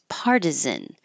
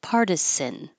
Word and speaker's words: partisan: And I learned today that you can pronounce this with an S. Partisan. So either way is correct, but the Z was first in the dictionary, meaning that's most common.